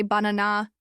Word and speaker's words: banana: In English, we stress the middle one, so we say banana, not banana or banana.